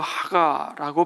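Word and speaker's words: הגה: 여러분, 이 묵상이 히브리어로 하가라고 발음하는데요, 가장 단순한 뜻은 반복하여 읊조린다는 뜻입니다.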